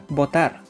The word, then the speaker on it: votar: When spelling words, the consonants B and V will not be pronounced the same way, but when pronouncing words, the sound will be the same. For example, votar and votar.